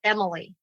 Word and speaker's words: EMLI: So the 4 things are what we call EMILI, but it's spelled EMLI, and it stands for